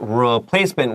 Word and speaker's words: replacement: right now look at replacement we have re but we really don't say replacement it's more like replacement like umbrella a short u sound here now Anthony I have